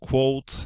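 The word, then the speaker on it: Claude: Like ChatGPT Quote. I think it's pronounced Quote. We actually discussed it before the... Yeah. I think it's Quote because it's French.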